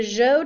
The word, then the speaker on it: Zhou: The Zhou Dynasty, and that ZH is pronounced almost like a J, that was around 1000 BCE.